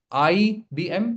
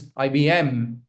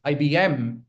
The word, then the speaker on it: IBM: IBM, it's not IBM, it's IBM. Can you hear that difference? IBM, I'm putting stress on M. The last letter has to be stressed, okay?